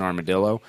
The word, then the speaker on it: armadillo: what she does and getting us an armadillo, which is how you say that word. My dad's from Puerto Rico, so I would know. It's Spanish.